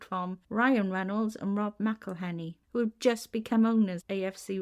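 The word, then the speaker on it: McElhenney: Ryan Reynolds and Rob meleny who just become owners AFC rexim at the time he didn't say Mel Henny though he said M heny he didn't quite say it right and I thought they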